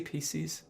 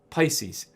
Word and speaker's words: Pisces: constellation named pisces okay did i say pcs pisces pisces okay this is pisces